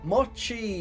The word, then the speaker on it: Mochi: Oh, to avoid further confusion for you, Gem, the ch in my name is pronounced how you would pronounce cheddar. Mochi is a chap. Ah, Mochi.